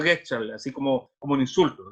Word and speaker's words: Gestalt: El secreto se pronuncia Getchal, así como un insulto. Getchal.